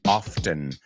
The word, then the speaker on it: often: No matter how often you do it, yo no pronuncio esa T. Hay gente que sí, often. Yo no.